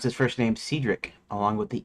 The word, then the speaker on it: Cedric: uh do because of this now in my head Cedric is uncommon compared to the standard pronunciation British American Cedric with a short E as in pet.